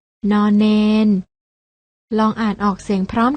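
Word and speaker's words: ณ เณร: ไร ใช่ แล้ว ค่ะ พยัญชนะ 2 ตัว นี้ อ่าน ออก เสียง น พยัญชนะ ตัว แรก อ่าน ว่า น หนู พยัญชนะ ตัว ที่ 2 อ่าน ว่า น เณร ลอง อ่าน ออก เสียง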